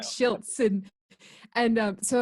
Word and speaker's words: Schiltz: just now I thought it was slits always pronounce that I didn't and now I see how it is shilts yeah it's like shilts in and so it's like always a telemarketer